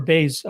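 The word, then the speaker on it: Báez: We got Bruno Silva plus 125 against JP Baez, or Baez is how you pronounce it, at minus 145.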